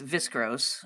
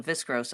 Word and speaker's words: viscose: saying that right, but the viscose of it. Isn't that how you say it? Yeah. This viscose, v i s c o s e. Is what it is.